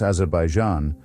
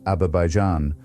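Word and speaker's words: Azerbaijan: Yet when the object of our consideration is a man who can neither pronounce Azabaijan, rendering it with sublime illiteracy as Abaijan nor remember which countries he has supposedly rescued from mutual annihilation.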